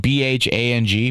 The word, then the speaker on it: bhang: They used bhang, which is an edible preparation using cannabis leaves. There's even bhang or it's spelled B-H-A-N-G, bhang.